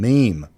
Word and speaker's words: meme: Richard Dawkins has coined the term meme rhyming with cream for replicators that are